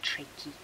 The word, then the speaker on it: trachea: Now trachea is spelt like trachea, with an E on the end, so which is why we pronounce it trachea.